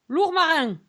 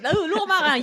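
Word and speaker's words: Lourmarin: don't know that City so how do you spell that uh it's l o u r m a r i n larang yes L that's right larang you can say it you can you have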